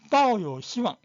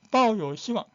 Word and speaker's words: 抱有希望: 抱有希望. 사성입니다. 抱有希望. 연습 안 하면 이 바오가 바온지 바오 헷갈릴 수 있어요. 抱有希望. 이 억양을 기억해야 돼요.